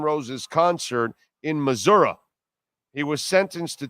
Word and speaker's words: Missouri: You do know you have to say Missouri, right? Because that's how they say it. You can't say Missouri. You gotta say Missouri. That's the way it's done, bro.